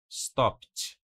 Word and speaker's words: stopped: Novamente, nós não vamos pronunciar o e. Stopped. O d fica bem suave, bem parecido com o t.